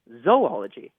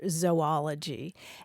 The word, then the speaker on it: zoology: super traditional scientific uh pronunciation would be a long o sound like zoa Plankton or zoology and the reason is